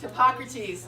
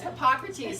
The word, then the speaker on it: Hippocrates: I can't think how to pronounce. Is it Hippocrates? It's Hippocrates. Okay. It's Hippocrates.